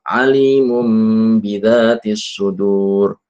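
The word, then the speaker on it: عَلِيمٌ بِذَاتِ الصُّدُورِ: Ada ikfanya ya. Dan membacanya dengan mengatupkan kedua bibir. Karena memang huruf mim itu adalah huruf syafatain dengan idbaq. Bukan alimu alimu. Jadi ada mereka sebagian orang itu meninggalkan rongga ya.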